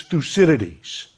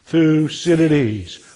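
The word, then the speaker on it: Thucydides: So the great thinker is Thusidities. Now I know his name is a mouthful and some people have trouble pronouncing it. So let's do it one two three together. Thusidities. One more time. Thusidities.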